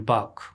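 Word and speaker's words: bark: के, ये हो गया इसका ट्रांसक्रिप्शन बाक, आर साइलेंट रहेगा।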